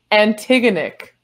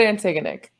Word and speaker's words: Antigonick: this correctly antigonic how do you say that antigonic it's like but antigonic yeah ah gotcha very well done uh drama